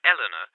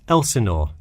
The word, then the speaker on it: Elsinore: I'm sorry, was that Eleanor? Could you spell that for me? Sure, it's Elsinore.